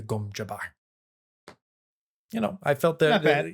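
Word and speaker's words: gom jabbar: very happy to see no one pronounced it gom jabber the uh the reverend mother didn't say that because that is of course just an inherently funny thing to say yeah she instead pronounced it i hold it your neck the gum jabar you know i felt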